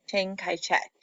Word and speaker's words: Chiang Kai-shek: And the other was the nationalists led by Chiang Kai-shek. Now, I know that name doesn't look like how it's spelled at all, and sometimes it's spelled differently.